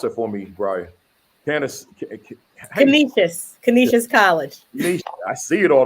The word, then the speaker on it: Canisius: Pronounce it for me, Brya. Canisius College.